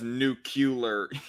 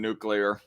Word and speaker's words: nuclear: uh red f says oh God he says nucular yeah the freaking um the the freaking PSA sit way of uh pronouncing nuclear the really really white trailer trash way of